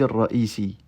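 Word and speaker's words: الرئيسي: Bon, en pratique, on ne prononce pas la voyelle qui est sur le ya ici, quand il porte une shadda. Donc on dira dawr al-muhaffiz ar-ra'isi.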